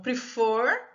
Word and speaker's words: prefer: Ó, prefer, a sílaba tônica, a sílaba forte é o for. Então, prefer, a gente vai dobrar o R, preferring, tá?